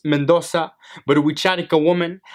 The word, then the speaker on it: Mendoza: my name you know say it's pronounced Mendoza but we chatting a